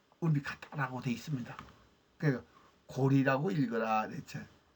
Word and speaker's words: 高麗: 그러면 당서도 읽을 때 고래라고 읽으면 안 됩니다. 고리라고 읽어야죠.